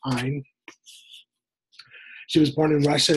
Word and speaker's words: Ayn: Her name is Ayn Rand, pronounced Ayn.